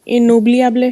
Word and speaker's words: inoubliable: Basically annubliable. Inoubliable. Inoubliable. अच्छा, it's inoubliable. Inoubliable. Okay, Nitika is saying correct. The other, the pronunciation should be like this. Inoubliable. Inoubliable.